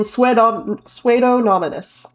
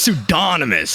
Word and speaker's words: Pseudonymous: I think it's pseudonymous. I think you got to get that D, a little bit of emphasis.